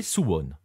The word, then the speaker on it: Suwon: cette fois en Corée du Sud pour visiter sous one d'ailleurs je sais pas si je le prononce bien il va me le dire dans